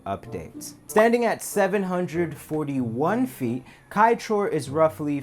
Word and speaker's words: Kaieteur: Kaieteur actually means Kai Falls, as the suffix "teur" in Patamona language roughly translates to waterfall. So to call it Kaieteur Falls would actually be repetitive.